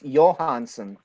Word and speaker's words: Johansson: Johnson where's Johansson that's actually technically over there it's Johannsen Oh since the J the J is pronounced yeah like okay gotcha